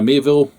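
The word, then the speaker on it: Miéville: So starting off with August's Book of the Month, The Book of Elsewhere by Keanu Reeves and China Mieville.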